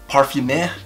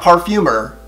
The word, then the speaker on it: Parfumeur: Parfumeur? Not parfumer. Parfumeur.